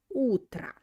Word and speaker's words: утро: And утро, morning O, also will be pronounced like A because it's without accent. Доброе утро. So it means good morning.